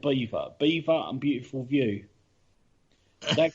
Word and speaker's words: Belvoir: something wasn't it yeah they're known as the witches of belfast bow beaver okay i'm going to call it belfast i'm sorry i can't know her myself to call it beaver castle and they're known as